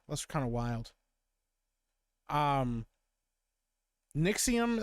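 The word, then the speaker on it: NXIVM: kind of wild um nixim I believe is how it's pronounced yikes what a [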